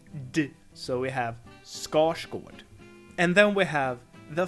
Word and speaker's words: Skarsgård: this and it's pronounced score scored not skarsgård scores good R and s create a retroflex sound which sounds like then